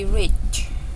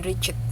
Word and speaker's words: reached: Bacanya can be reached. Iya, jadi agak sedikit denger dehnya itu di belakang reach gitu, tapi bukan reach it gitu, karena dia belakangnya deh.